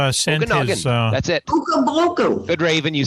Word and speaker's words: Okanagan: Okanagan.